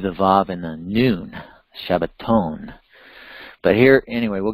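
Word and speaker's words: שבע: seven there's that word Shiva Sheva is the way you'd pronounce the word seven actually Sheva shabooey is what's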